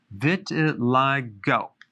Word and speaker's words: vitiligo: i want to talk about vitiligo vitiligo that's how it's pronounced what is it it's a deep pigmentation